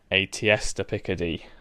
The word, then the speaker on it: tierce de Picardie: to introduce something called aesta picade see if I can spell it it's a French word t i e r